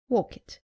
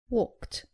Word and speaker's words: walked: Saying walk it. It is walked.